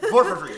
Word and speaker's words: Porphyry: Porphia? Do you know him? I'm thinking like Porphyry. Porphyry, that's his name.